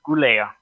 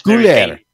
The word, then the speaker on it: Goulet: Yes, I don't think it's going to be easy for you, but it's pronounced Goulet. It's Goulet.